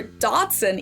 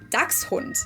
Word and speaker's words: Dachshund: I didn't even know people were saying something in German because this word is pronounced Dachshund or Dachshund even, while in Germany it would be Dachshund, which consists of the words Dachs, meaning badger, and Hund, which is dog.